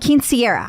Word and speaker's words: quinceañera: Quinceañera. I knew I wasn't getting my syllables correct.